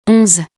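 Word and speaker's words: onze: We write it O-N-Z-E in French and we pronounce it 11. This word end is pronounced very slightly.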